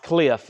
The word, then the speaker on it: KLIF: Cliff is pronounced Cliff.